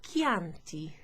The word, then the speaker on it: Chianti: sound but you also have an h c in an h is always a k okay like in chianti or in the word